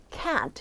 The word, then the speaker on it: can't: I 큰 발음까지 합니다 하지만 이게 부정문으로 들어갈 때는요 조금 더 그 부정 뉘앙스 요거를 좀 크게 읽어 줘요 can't 이런 식으로 I can't go I